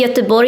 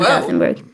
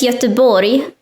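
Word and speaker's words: Göteborg: yes i'm sorry did you know that it's pronounced yatabori in swedish it's not gothenburg i didn't but i knew that i mispronounced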